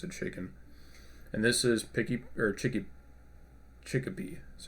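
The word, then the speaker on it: Chikipi: And this is Chickapee.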